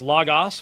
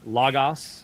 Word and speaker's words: Logos: If you use Logos, please at least call it by the proper name, Logos, not Logos or Logos. Neither would be a possible pronunciation.